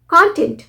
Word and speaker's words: content: ये गलत है कंटेंट कंटेंट ओ साउंड कब होता है जब हम इसे एज अ नाउन प्रोनाउंस करते हैं जो विषय वस्तु